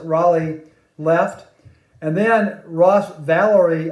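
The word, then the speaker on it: Rolie: Now, Journey was formed in 1973, so two former members of Santana, Neil Sean and Greg Raleigh, or Rowley, but I pronounce it Raleigh, left.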